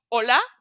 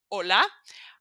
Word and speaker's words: hola: missing is letter H it's the only letter we will never pronounce it's uh just as if there was nothing in there let me show you some examples hola this one you know for sure you never say hola you just say hola